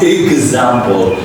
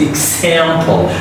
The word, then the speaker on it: example: X here is a k sound. It's not g sound. There are some rules to pronounce it, but here is X is a k sound. Example. It's not example, not like an ags, okay? It's example. So the last L is the dark L sound.